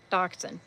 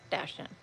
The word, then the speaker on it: dachshund: Dachshund. Dashen. Dachshun is how you pronounce it.